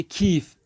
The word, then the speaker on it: کیف: کیف۔ کیف یہ فے کیف، اردو تلفظ میں فارسی میں پڑھیں گے کھیف، کھا پڑھتے اس کو، تو ہم پڑھیں گے کھا کھی کھو کھی، کھی سے کھیف، کھیف یعنی بستہ۔ خوب،